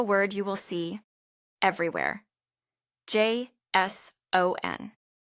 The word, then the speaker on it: JSON: J S O N. Ah, yes. The key here is where you put the stress, the emphasis. It's not Jon, it's JSON.